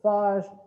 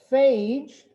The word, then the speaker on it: phage: or phage for short if you're french you could pronounce it five if you're not french and you pronounce it fosh slap yourself so phage they can take dna